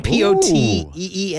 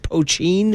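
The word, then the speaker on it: poitín: Yeah, a little taste on the tongue from you go out and make your little, I think they call it poachine, Poteen, but it's pronounced poachine.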